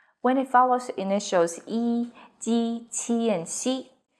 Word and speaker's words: 一: E as in number 1 is pronounced as yi, but in 一样, it becomes the second tone. In 一起, it's the fourth tone.